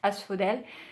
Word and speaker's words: Asphodel: I came across Asphodel, probably pronounced something like Asphodel in English. I don't really know its English pronunciation. In French, it will be pronounced Asphodel.